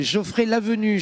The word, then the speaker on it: Geoffrey Lavenue: Ça va troubler notre gagnant de ce soir, qui s'appelle Geoffrey Lavenue, je prononce bien?